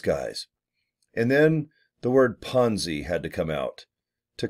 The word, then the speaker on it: Ponzi: Let's uh delve into Ponzi p-o enzy it rhymes with Fonzie of Happy Days Arthur Fonzarelli one of